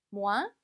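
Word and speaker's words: moins: 표현입니다 같이 읽어 볼게요 모한 뭐하나 마지막 s 발음 되지 않습니다 그 다음에 물론이죠 라는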